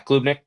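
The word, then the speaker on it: Klubnik: Uh how do you pronounce is it clubnick cade? Yeah clubnick.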